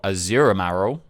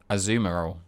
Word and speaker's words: Azumarill: Mareep, Flaffy, Ampharos, Blossom, Marill, Azurimaril. Azumarill. Right. It's weird. Listen. Yeah. It's listen, right? Look, listen, as children, you pronounce stuff however you thought you saw it, right?